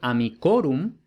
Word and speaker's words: amicorum: Entonces, por ejemplo, amicus tiene el acento en la I en el nominativo, pero luego, por ejemplo, en amicorum no tiene el acento en la I.